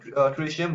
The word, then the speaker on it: tritium: Specially उसको pronunciation में ट्रिशियम बोलते हैं, TRITIUM।